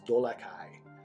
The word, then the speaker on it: Dolakai: through telepathy with him, his ancient pronunciation of his name is Dolakai.